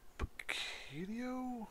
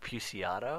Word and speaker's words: Puciato: Greg Picchio? I don't know. Damn. I think it's like Puciato. Puciato? Yeah. Yeah, let's go with that. The singer-songwriter from the Dillinger